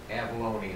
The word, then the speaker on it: Avalon: It's Avalone is how I pronounce it. Avalone, okay, So, thank you.